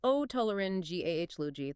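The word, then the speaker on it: otolaryngology: It is o toolin gahh luji. The big stress is on the GH.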